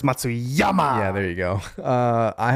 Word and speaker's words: Matsuyama: You didn't say it right. It's Matsuyama.